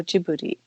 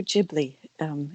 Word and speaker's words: Ghibli: Apparently, Hayao Miyazaki came up with the way of pronouncing this, and it was in Japanese, Studio Ghibli. So it's with a J-I in Japanese at the beginning of the second word.